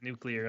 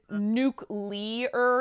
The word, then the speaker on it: nuclear: didn't anytime anyone says nuclear i mean people say nuke leer instead of nuclear right because that's the